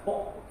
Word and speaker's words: 北: 北大家可能刚才听到我念成了啵，它是一个入声字，它是一个发音非常短促的字，和这个西